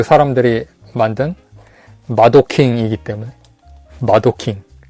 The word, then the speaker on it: 마도킹: 뭐 그 사람들이 만든 마도킹이기 때문에. 마도킹. 우리나라식으로 마동왕이라고 읽는데 그냥 애니메이션에서 보면 마도킹이라고 하더라고요.